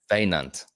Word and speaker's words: Wynand: vein stunt without the Vein, st. Veinant. Veinant, Veinant. Vein Oh, that's stunt. easy. That's even easier now. That's how you expressed it Veinant.